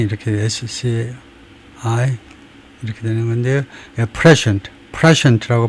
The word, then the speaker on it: prescient: prescient라고 발음하고 prescient, 또 prescient라고 다지면 prescient, 그 다음에 meaning은 having foreknowledge, 그런 예측력을 가진 거, 선견지명이 있는 거, 그거네요.